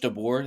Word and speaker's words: DeBoer: Is it Coach DeBoer?